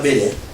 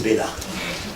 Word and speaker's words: Béla: C'est pas Bélé, c'est Béla. Donc c'est que Béla, c'est-à-dire c'est que il y a quelque chose qui se passe.